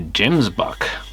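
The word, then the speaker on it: gemsbok: And these are a gemsbuck.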